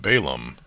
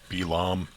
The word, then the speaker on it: Balaam: Because I'm not sure how old Balaam is at this time, or Balaam, I believe it's pronounced in Hebrew.